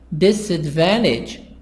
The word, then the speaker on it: disadvantage: Disadvantage, 4 parts, but the stress on the first part and on part number 3. Part number 1 and part number 3.